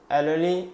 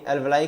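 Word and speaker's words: alveoli: Pulmonary सिरा, एल्वेली, या सीधे सीधे हम कहें, ये थोड़ा सा प्रोनाउंसिएशन ठीक नहीं, एल्वलाई कह लें, पल्मोनरी धमनी या महाधमनी?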